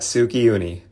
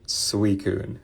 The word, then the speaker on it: Suicune: Let's try it again. Suicune. Not Suicune. Suicune.